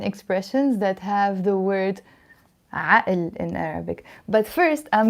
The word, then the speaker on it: عقل: But in Lebanese Arabic, we pronounce it عقل because we always pronounce this قاف as a sound.